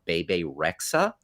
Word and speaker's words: Bebe Rexha: Right now, I'm going to ask you to pull up a picture of pop star Bebe Rexha You got it. because it rhymes with the device.